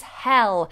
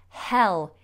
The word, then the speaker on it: hell: one so the next one was Hill versus hell and this is the difficulty with the short vowels Hill hell yeah and let me just show you and